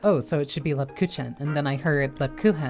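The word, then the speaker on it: Lebkuchen: Lepkuchen. It sounds glottal. So I did pronounce that right the first few times.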